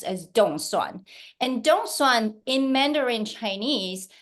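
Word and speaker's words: 凍蒜: Taiwanese um be elected get elected is actually pronounced as Donan and Donan in mandering Chinese the literate translation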